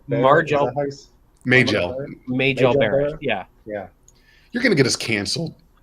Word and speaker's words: Majel: Well, I mean, the actress, I always say her first Uh, name wrong. Margel. Margel. Majel Barrett.